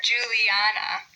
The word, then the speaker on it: Juliana: Or Juliana, Juliana. So we have four syllables there. Do we say Juliana, Juliana, Juliana, Juliana? So we pronounce it emphasizing the third syllable.